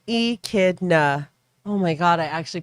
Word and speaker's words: echidna: fairly common occurrence and we pronounce it as e kidna oh my god i